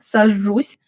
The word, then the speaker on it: сажусь: And notice the soft sign at the end, сажусь. That apostrophe in the transliteration signals a softening of the final consonant. Don't swallow it entirely, but don't overpronounce it either. A light softness.